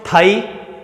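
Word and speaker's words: thigh: उसी तरीके से और देखते हैं अपन थाई, टी एच, देखिए थाई, थाई में देखिए थो, थाई है ये, थाई, थाई नहीं है, जीभ को थोड़ा सा बाहर निकाल के उसका प्रोनाउंसिएशन होता है थाई।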